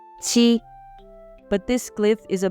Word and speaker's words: 七: This word is the first tone, so it should be qi.